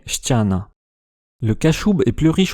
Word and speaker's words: ściana: Il a quasiment éliminé les consones molles comparé Stana avec le polonais Stiana.